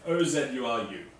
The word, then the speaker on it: Ozuru: No, it is spelt, just so you all know, O-Z-U-R-U.